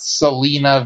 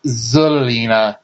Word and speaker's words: Zelina: Trinidad's new name wrong it's not Selina Vega like Selena Gomez it's zelina Vega with a z for some reason um